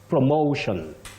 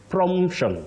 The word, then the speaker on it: promotion: very common and very popular with our viewers you say promotion promotion not promtion promtion no promotion no promotion then we come to